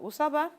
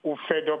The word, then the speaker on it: Ufedo: I think the person got my name wrong. This is Ufedo calling from Abuja.